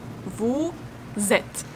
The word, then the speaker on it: vous êtes: Vous êtes. Here we will read s in vous, like z. Vous êtes. Vous êtes. And we don't read the last two letters.